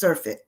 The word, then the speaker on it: surfeit: the cheating way but it's pronounced surfit and so that's what